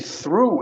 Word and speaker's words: through: Through. Então, língua entre os dentes, não tem problema. Eu sei que é estranho, a gente não tem nenhum som em português assim. Nenhum. Verdade. Mas é o TH.